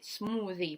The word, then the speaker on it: smoothie: Smoothie – recipe, smoothie, понятно, это слово тоже есть в русском языке, только мы его читаем как смузи. Smoothie, язык между зубами.